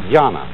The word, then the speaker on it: Jnana: And that is the Japanese way of pronouncing the Chinese word, Chan. And this, in turn, is the Chinese way of pronouncing an Indian Sanskrit word, Jnana.